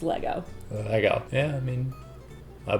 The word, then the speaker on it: Lego: 2 1 go please say it properly it's Lego Lego yeah I mean I bonded what happened